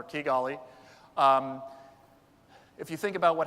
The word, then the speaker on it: Kigali: One of them is Rwanda, Kigali, and now I know I've mispronounced it thanks to the other speaker from Kepler, Kigali.